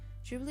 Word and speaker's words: Ghibli: and so came the birth of studio ghibli jubilee is pronounced like jubilee and it means dry saharan